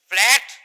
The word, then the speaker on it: fillet: লেমনিসকাস মানে ফ্ল্যাট nerve fibre band. ঠিক আছে, এটাকে ইংরেজিতে একটা শব্দ বলা হয় FILLET, ফিলে, ফিলে উচ্চারণ।